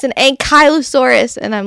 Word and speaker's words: Ankylosaurus: my youngest kid constant corrects me in pron pronunciation of an Ankylosaurus she's like it's an Ankylosaurus and I'm like okay but I'm still going to call it an anchisaurus Sam says they're my favorite dino mine too